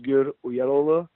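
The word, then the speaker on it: Özgür: I mean, the proper pronunciation is Ozgur Uyaraglu, but yeah, is a lot more easier.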